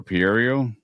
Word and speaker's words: Pereiro: How do you pronounce Pereiro? Since you've been watching this forever, Pereiro.